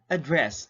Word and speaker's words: address: so therefore that is where do you put a stress mark very good that is on the second syllable why because it is used as a verb and if the word is used as a verb then you have to read it fast okay again let's have